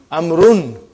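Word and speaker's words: عمرو: It is not read. It is not pronounced. It is only written. Why? Just to differentiate between these two. Actually, it is Amrun.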